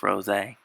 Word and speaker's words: Rosé: Yes, I know her name is pronounced Rosé.